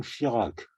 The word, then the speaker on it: Schirach: gars qui s'appelle von Schirach. C'est pas le nôtre, hein. C'est pas c'est Chirac, ça se prononce pareil, mais ça s'écrit pas pareil.